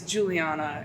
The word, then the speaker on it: Juliana: interview I said well my name is Juliana and it rhymes with Koolana so I think this has to I love it that's pretty cool.